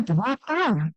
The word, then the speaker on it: guapa: No, so guapa, she corrected him, emphasizing the I sound of the second syllable.